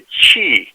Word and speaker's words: Qi: a way that the chi chi is spelled as Qi pronounced as Chi this Chi is a